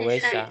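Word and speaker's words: 회사: Tadi itu baca Wesanya apa? Hoisa. Harusnya apa sih? Wesa kan? Oh, Wesa. Wesa. Harusnya Wesa, W. Tadi bacanya Wesa apa ya? Iya. Apa aku yang salah dengar? Itu aku tadi bacanya Heisa. Iya, harusnya Wesa kan? Wesa, pakainya Wesa. Hoisa.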